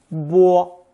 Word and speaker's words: 波: It's pronounced either first tone 坡 or 波.